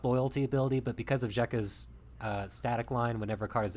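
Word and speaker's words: Xekka: set this is zheka zekka x-e-k-k-a i think it's pronounced jeka void scion uh for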